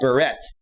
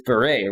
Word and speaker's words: beret: child raspberry beret and people couldn't pronounce it so they would they would call it barrette right because it's spelled barrett that it's beret right oh man i gotta